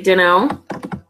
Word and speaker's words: don't know: So the next thing I wanted to look at is don't know, which we say dunno, basically.